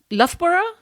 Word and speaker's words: Loughborough: And what I find interesting about this is that you applied to the University of Loughborough. Yes. Is that how you pronounce it?